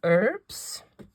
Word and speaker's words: herbs: these little gizmos little herbs or as as our American cousins would say herbs we have an H in front of the pronunciation for us let me say herbs